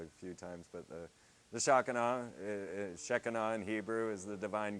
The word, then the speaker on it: Shekinah: How I've heard it pronounced in like religious circles is Shekinah.